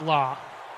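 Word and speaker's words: La's: And apparently it is pronounced law, according to Brett Solberg. Their only hit song ever. It's pronounced law, the laws.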